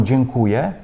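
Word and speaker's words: dziękuję: Зверніть увагу, коли ми говоримо «дзінкує», не вимовляємо «ем» наприкінці.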